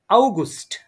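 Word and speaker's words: August: অগস্টকে বলবো আউগুস্ট, ইয়া আউগুস্ট।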